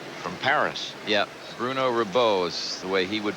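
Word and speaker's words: Rebeuh: Chair umpire Bruno Ribieu from Paris. Yeah, Bruno Ribeau is the way he would pronounce it.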